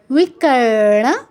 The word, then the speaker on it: বিকর্ণ: তথ যুক্তক্ষরটা ভাঙলে পাই তথ ঠিক আছে তাহলে বিকরণ বিকর্ণ নয় বিকরণ আর এই বটা অন্তস্ত আছে